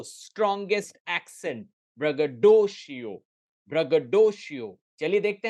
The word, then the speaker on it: braggadocio: ओ, ब्रगडोशियो, ब्रगडोशियो, ब्रगडोशियो, ब्रगडो, dough strongest accent, ब्रगडोशियो, ब्रगडोशियो।